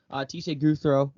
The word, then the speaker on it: Gouthro: Gouthro, is that how you pronounce it? The Yeah. last name? Yeah. Teshay Gouthro.